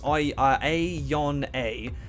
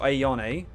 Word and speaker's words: Ayane: So with Ayane, so it's I-A-Yon-A. Okay, so Ayane.